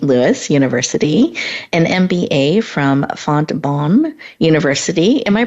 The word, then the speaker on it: Fontbonne: Louis University, an MBA from Fontbonne University. Am I pronouncing that correctly, Pat?